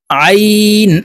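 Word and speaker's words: ع: উচ্চারণ করতে হবে, কারণ আইনের মখরাজ হলকের মধ্যখান থেকে হবে। আমরা অনেকে এই আইন হরফের উচ্চারণ হামজার উচ্চারণ করে থাকি। হলকের শুরু থেকে হামজার উচ্চারণ হবে, আর আইনের উচ্চারণ হলকের মধ্যখান থেকে হবে।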